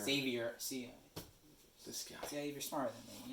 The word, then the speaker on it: Xavier: on save your fans there's no z in there since dave you are